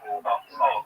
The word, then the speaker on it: Manastash: How do you pronounce the name of your town, Manastash? Manastash.